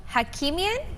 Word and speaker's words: Hakimian: His name, Hakimian. He's the is what he's better known as. He's joining us over Zoom to tell the story. Did I pronounce your name correctly? Great pronunciation.